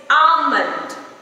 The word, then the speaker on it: almond: Similar to that, it's almond. It's almond, not almond. L is again silent.